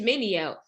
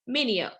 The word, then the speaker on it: Mineo: to say my name it's mineo say it with me mineo okay great two forks